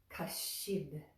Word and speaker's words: kaścid: So when they go together, it sounds more like kaścid. And again, the sound is right behind the front teeth.